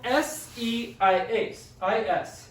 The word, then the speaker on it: seis: It's spelled S-E-I-S. And it's pronounced seis. It's just 1 syllable, really quick, seis.